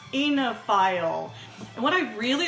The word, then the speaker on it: oenophile: today's word is baby baby baby it's oenophile o en o ph IL e and that's pronounced oenophile and what i really like about this the